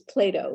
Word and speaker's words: PLATO: although I will say it's Plato like the philosopher right I think the